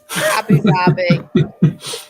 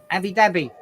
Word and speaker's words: Abu Dhabi: Abu Dhabi. I just I don't don't think you're pronouncing that very well. It still sounds like Derby. Abu Dhabi.